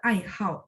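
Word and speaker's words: 爱好: Kayak teman-teman dulu belajar ai hao. Apa itu ai hao? Hobi ya. Ini kalau teman-teman lihat huruf Mandarinnya ini juga, tapi dia harus dibaca nada 4 seperti itu.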